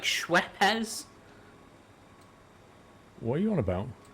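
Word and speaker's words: Schweppes: It's like Schwepz. What are you on about? The company that makes lemonade. Yeah. What about it? What's How do you pronounce it? Schweps. Is it Schweps? Yeah. Schweps.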